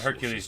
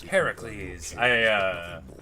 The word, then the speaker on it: Heracles: Well, we want Hercules to let us better here. I'm gonna keep on saying his name wrong. You'll get a share of spoils. Heracles.